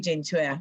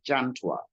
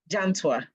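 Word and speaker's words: Gyentwa: Lawyer Kwame Gentwa, your submission, sir. Thank you. And the name is pronounced Jantwa. Jantwa, sorry. Jantwa.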